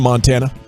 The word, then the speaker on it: Montana: Okay, I once met a guy from Montana, and he says you got to stress the Mon if you want to say it like a Montanan.